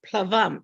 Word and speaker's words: plavam: And plavam, which are a boat, plavam. So that there you get the pronunciation, palava, plavam.